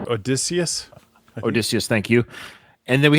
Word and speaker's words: Odysseus: So we had, I think how you say his name, Odysseus, right? Odysseus? Odysseus, thank you.